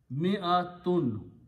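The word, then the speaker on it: مِائَة: Likewise, this word mi, this is not pronounced, so this hamza with the fatha sound is a. Mi'atun, 100.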